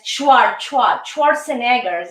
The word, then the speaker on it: Schwarzenegger: Yes, Schwarzenegger. This is the pronunciation.